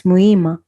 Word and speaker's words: Muhima: forget the h yeah you don't pronounce the h no no muhima it's muyma mohima okay okay h